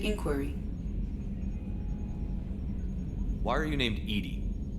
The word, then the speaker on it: EDI: have a specific inquiry why are you named Edy Edy is the phonetic pronunciation of e di that is an acronym